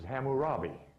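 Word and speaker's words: Hammurabi: not cam but is which is pronounced in most literatures as hamurabi this is three names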